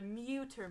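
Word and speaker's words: Mütter: of them is the definitely not pronouncing it right but the mudder museum so it's theater because it's german german the muter museum it's spelled m-u-t-t-e-r with like the sideways colon over the you yeah you feel me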